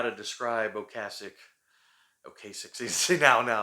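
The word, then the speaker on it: Ocasek: songwriting um I know I know I'm not pronouncing that correctly ocasic that's actually how you're supposed to pronounce it but I I've been saying okay sick for too many years and so I'm just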